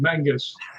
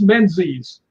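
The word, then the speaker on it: Menzies: The reason I yelled when she said Mangus is because it's spelled MN Z. And I don't care how much pride the the Scots have. It's not Mangus, it's menses.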